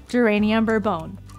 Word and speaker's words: Geranium Bourbon: Now, when you place a 190 PV order on Subscribe to Save, you will receive one of our newest essential oils, Geranium Bourbon.